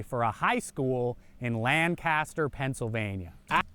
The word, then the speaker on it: Lancaster: yearbook from 1923 for a high school in Lancaster Pennsylvania it's pronounced Lancaster but I'll let it go just uh it